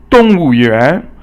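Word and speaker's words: 动物园: And 动物园 means 园 is 二声, so it's rising. So 动物 is 四声 falling.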